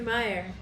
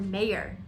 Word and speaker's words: Mayer: that but yeah oscar meyer i've always remembered spelled m-e-y-e-r and meyer and it turns out that it's been oscar mayer the entire time pronounced mayor and m-a-y-e-r yeah go look at